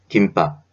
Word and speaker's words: 김밥: 김밥. 읽을 때는 김밥이라고 읽지만 쓸 때에는 김 그리고 밥을 유지하게 됩니다.